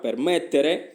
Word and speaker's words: permettere: con l'accento qua permettere con la forza della pronuncia la fate qua participato.